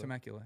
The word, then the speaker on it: Temecula: Temecula? Temecula, yeah.